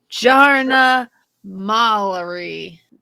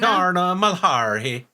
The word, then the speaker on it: Jarna Malari: Swedish, where you say a J is a Y. Jarna. Jarna. Jarna Malari. It doesn't have a Y in the pronunciation, so no, I'm not going with it.